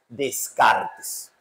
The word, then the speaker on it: Descartes: franceses ya pero nosotros en Latinoamérica le decimos Descartes Ahora hay un detalle muy interesante para la